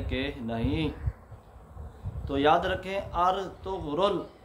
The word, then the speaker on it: ارطغرل: نہیں۔ تو یاد رکھیں، ارطغرل، حمزہ پر زبر اور را پر سکون، طا پر پیش، غین پر سکون، آگے را پر پیش کے ساتھ ارطغرل، یہ جو ہے اس کا درست اور صحیح تلفظ ہے۔ ترکی زبان کا